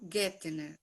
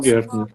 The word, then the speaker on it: Gertner: Hoje, o nosso parceiro é o Silas, mas que é o Gettner, né? Pronunciei certo? E aí Perfeito, Gertner.